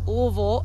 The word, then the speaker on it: Louisville: we're headed down to louisville or louisville as i'm told the locals pronounce it and we're going